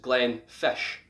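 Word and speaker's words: Glenfiddich: a picture up now the first part we already know is glenn which in gaelic means valley now the next part of this it's pronounced as it looks almost but the ddi ch at the end is more of a sh sound so it's pronounced glenn fish glenn fish and this is because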